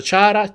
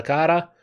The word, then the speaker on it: Chara: C'è chi lo pronuncia Chara C'è chi lo pronuncia cara perché viene appunto da karakter quindi finito Inoltre sembra